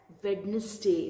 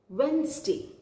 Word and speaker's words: Wednesday: People pronounce it as Wednesday, which is absolutely a no-no. It is wrong. The correct way is Wednesday.